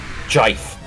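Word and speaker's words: GIF: Jif. Jif., that's how it's pronounced.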